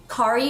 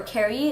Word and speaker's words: Kari: So the first color I'm going to be using from the NARS Spring collection is called Kari, or Kari. It's spelled K-A-R-I.